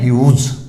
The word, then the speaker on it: huge: तो ये जो वर्ड है इसका अर्थ होता है विशाल, बड़ा, बहुत बड़ा, तो इसको बोलते हैं ह्यूज, ध्यान रखना है, ह्यूज।